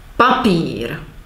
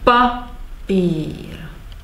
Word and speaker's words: papír: Papír. This is the example. We have stress on pa and elongation of the pír. Papír.